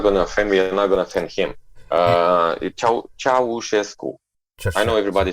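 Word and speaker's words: Ceaușescu: So imagine that it stood with me all the time, because that was a piece of what was happening under Ceausescu in communism, where everybody was saying, because that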